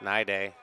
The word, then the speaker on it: Nide: Now the PA guy doesn't know that. He's pronouncing his name wrong. It's Nide.